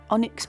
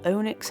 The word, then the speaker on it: onyx: i start using the onyx pencil or onix i'm not really sure how you pronounce that i've always said it's onyx and that was perfect for